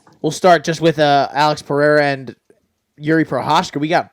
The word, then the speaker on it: Pereira: I think, obviously, Alex is going to have I believe is actually how you say it, but Alex Pereira. Pereira. You gotta it's hard to do. It's Pereira.